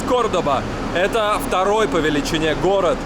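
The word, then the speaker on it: Córdoba: Лёха и я в кордабе или кто-то говорит кордоба но правильно говорить кордоба это второй по величине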